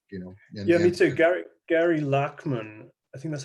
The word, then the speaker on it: Gary Lachman: Gary Lachman, I think that's how you pronounce his name. It's Gary Lachman, who was a founding member of Blondie, now writes about the occult.